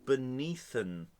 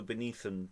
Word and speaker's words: beneathen: Yes, it's on hell beneathen. You just said beneath. It's the beneathen to rhyme with heaven.